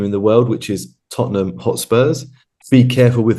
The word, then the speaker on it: Tottenham: the world which is Tottenham hot Spurs be careful with the pronunciation people because it is not tottingham it is Tottenham I'm just going to